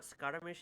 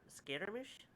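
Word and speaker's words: Scaramouche: not how it's pronounced it's not scaramish it's scary Mish reference oh the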